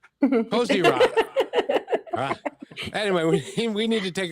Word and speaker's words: Kozyra: It's like Kozyra. Kozyra.